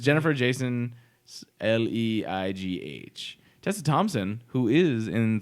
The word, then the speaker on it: Jennifer Jason Leigh: movie, and it is gonna have Natalie Portman, Jennifer Jason Leigh. Hello? Hey, or Leigh? Jason Leigh? I don't know what that I is. think they just It's pronounced Jennifer Jason Leigh.